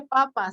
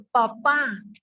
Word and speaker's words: papá: te dicen, es que no se dice papa, se dice papá.